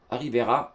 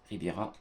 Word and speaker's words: Riviera: On verra si on jouera à l'Alliance Rivera, si j'ai bien prononcé. Riviera.